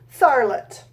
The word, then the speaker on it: Tharlet: this one is by Yves starlett I think it rhymes with scarlet mm-hmm there's an AR